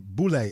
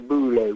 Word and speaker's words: Boule: we call it the Boule. How do you spell that? B-U-L-A-Y. B-U-B-O-U-L-E. Listen, man, I think one of the first people to really talk about the Boule was a brother named Steve Coakley.